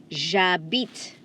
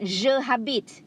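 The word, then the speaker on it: j'habite: now abita is silent please remember the h is silent so you don't say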